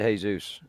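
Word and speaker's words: Jesús: Jesus is in jail. You're pronouncing it wrong because it's Jesus.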